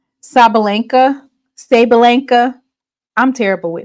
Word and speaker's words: Sabalenka: You had it right the first pronunciation. Okay, Sabalenka. Yeah, Coco.